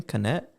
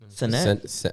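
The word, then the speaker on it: Cenat: How do you say his last name? Canet. Senet. Kai Senet? Senet. Kai Senet.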